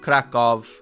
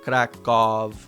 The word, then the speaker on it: Kraków: Sound the same? Always U. Dumny, grubas, Kraków. It will never Kraków. Oh, wow. Wow, I guess I've been saying Krakow wrong my entire life. Kraków.